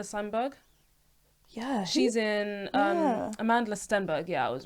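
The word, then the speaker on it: Amandla Stenberg: her name Amanda Sandberg yeah she's in um Amanda Stenberg yeah I was right yeah period I think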